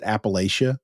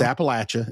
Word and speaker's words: Appalachia: a personal pet peeve of mine she she pronounces it Appalachia which makes me want to commit murder yeah because it's Appalachia it's always been Appalachia it will always be